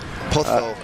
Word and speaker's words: Pozo: With the Spanish pronunciation, and you say with Jaime del Pozo is Pozo. So you got to put that that lisp on the Spanish Z, on the Z.